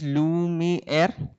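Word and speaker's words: Luma AI: Now there is Lumi Air. That's how it's pronounced.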